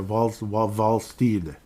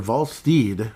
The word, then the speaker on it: Wallstedt: It's not Stead. It's like, I forgot what it is. Like Steed, I think. Jesper Wallsteed. Wrap your head around that. Jesper Wallsteed. So anyhow, Mr. Wallsteed with 2.09 goals against average.